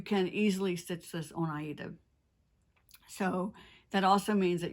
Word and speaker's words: Aida: can be worked on aida as well as linen and by the way when i say aida i realize a lot of people pronounce it ada and we're talking about